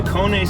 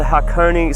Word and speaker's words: Hakone: The Hakone Skyline.